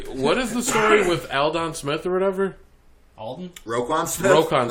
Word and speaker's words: Aldon: Aldon. Aldon. Alan Don. Aldon. Aldon. His dad was Al. His dad's dad was Don. It's Al Don.